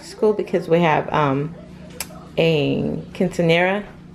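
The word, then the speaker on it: quinceañera: I won't be doing what they ate after school because we have a quinceanera. Right? I said it right? Kinda, yeah. You say it. Quinceanera.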